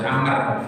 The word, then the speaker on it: Amr: Kalau ada wawunya tidak perlu dibaca Umar, harus Amr. Karena nggak ada wawunya maka ini pasti Umar. Cuma kita yang baca ini sudah ada urusan dengan wawu karena ada tanda bacanya. Tapi aslinya tidak ada tanda baca ini sehingga tulisannya sama. Umar ya ain mim wawu, Amr ya ain mim wawu.